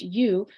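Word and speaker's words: 鱼: good for the brain in Mandarin Chinese the word fish is pronounced you which is the same pronunciation as the word Surplus so eating fish symbolizes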